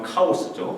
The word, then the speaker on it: 카오스: 어 한국말로 발음하면 카오스죠. 케이아스.